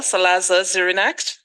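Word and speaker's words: Salazar-Xirinachs: to say thanks to Executive Secretary Jose Manuel Salazar Zirinac. Did I pronounce that right?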